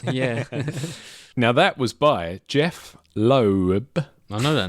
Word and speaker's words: Jeph: Is it Jeff with PH? Yeah. Jeph. My name's Jeff. Did you get that He from just him wants- saying it? Yeah, the way he said it, he's pronouncing Jeff.